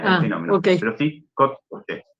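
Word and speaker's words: kod kuće: Cuando un croata dice kotkuche, en realidad está pronunciando una T en Una lugar T, de la claro. D. Muy bien ahí, me gustó. Agreguen ese como ejemplo en que no se ve reflejado en la grafía este mismo fenómeno. Muy bien. Un croata pronuncia una T ahí, no una D.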